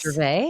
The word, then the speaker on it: Gervais: Do you pronounce it yes? Yes. Gervais?